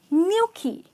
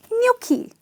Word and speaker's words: gnocchi: and its pronounced as "Gnocchi " so the "G" here is silent and there is an invisible "Y" here which doesn’t appear in the spelling but definitely comes in the production its nyawk-kee ok and nyawk-kee it